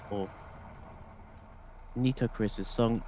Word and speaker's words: Nitocris: All right, Nitocris. So I actually am pronouncing it right. Or Nitocris with song E sounds like the word need.